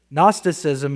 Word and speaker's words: Gnosticism: Gnosticism is a term taken from the word ginosis meaning knowledge which reveals their claim to have a superior knowledge.